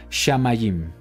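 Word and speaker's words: שמים: una vocal dijimos que el puntito de abajo representa una jirik y es una I por lo tanto la pronunciación sería shamayim que se traduce como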